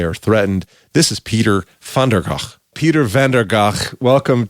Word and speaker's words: Van der Gaag: It's Van der Gaag.